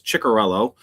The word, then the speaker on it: Ciccarello: I am here with Chikorello. Did I even say it right? Wow. I am impressed that your in Josh's stream taught you guys how to say my last name. And yes, it's Chikorello.